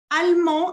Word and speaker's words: allemand: Allemand, allemand significa alemán. Vous dites allemand. No se pronuncia la E y tampoco se pronuncia la D en masculino.